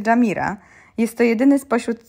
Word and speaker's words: Jumeirah: My zjeżdżamy na Jumeirah. Jedziemy zobaczyć Palmę i Dubai Marinę. Palm Jumeirah, co przede wszystkim czyta się Jamira, jest to jedyny spośród